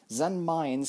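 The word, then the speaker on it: Zenmaines: share with you guys zen mines is pronounced zen mines uh because he's actually supposed to be a landmine hence that pronunciation and in japanese i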